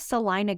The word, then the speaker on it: Celina: those five top neighborhoods so as far as Salina goes I know that it's spelled Selena everybody here pronounces it salon so